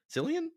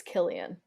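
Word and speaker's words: Cillian: it was incredible and selan Murphy selian is that how you say it I think it's Killian oh well Murphy um how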